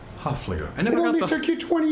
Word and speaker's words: Hoefliger: I'm with our dear friend, Hoefliger. Still not. All right, try again. Hoefliger. Hoefliger. There you go. Hoefliger.